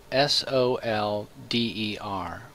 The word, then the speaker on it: solder: we begin let's learn to say it right it's spelled sol de r but it's pronounced solder so we're going to